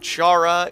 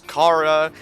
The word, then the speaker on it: Chara: Yeah, a lot of people told me it's not Chara, it's Kara, and it's not Rousai, it's Rousei, among other words.